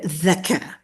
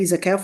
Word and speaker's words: zakah: they don't necessarily need zakah. Not zakah, zakah. Wait, what's the difference between zakah and zakah? Isn't that just a person that just doesn't know how to say the za sound?